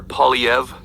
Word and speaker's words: Poilievre: Pierre Poilievre.